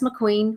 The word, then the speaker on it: McQueen: that's correct right McQueen like the sea Queen or Alexander McQueen yeah there was a